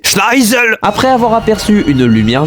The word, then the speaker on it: Schneizel: On découvre que celui qui a donné l'ordre de tir est le second prince de Britannia, Schneizel. Pardon, j'ai mal prononcé. Schneisel.